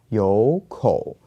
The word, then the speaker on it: 有口: But remember, if you have two third tones here, that you have with and the first third tone actually changes to a second tone, that's why the pronunciation is a little bit different here and it becomes "有口".